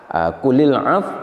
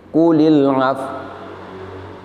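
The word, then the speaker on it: قُلِ الْعَفْوَ: Karena itu ketika membaca kulil af di sini, maka pada akhirnya bibir kita harus manyun seperti ini, kulil af. Sekali lagi, kulil af.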